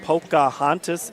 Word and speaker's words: Pocahontas: Let me see if I get this pronounced right. Pocahontas area, Ellie?